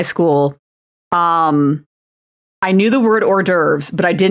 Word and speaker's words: hors d'oeuvres: all confidently pronouncing, like instead of saying hors d'oeuvres, like our d'oeuvres or something like that, like the wrong pronunciation.